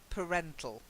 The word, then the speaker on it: parental: So we've got parent, that's parent, with the air sound, and then parental.